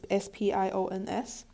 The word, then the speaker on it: SPIONS: It is abbreviated as SPIONS, which I pronounce as spions.